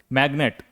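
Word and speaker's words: magnet: देखिए यहां पर जी के बाद अगर एन हो फिर भी हम जी का उच्चारण कुछ शब्दों में करते हैं। जैसे मैग्नेट एम ए जी एन ए टी मैग्नेट का मतलब होता है चुंबक।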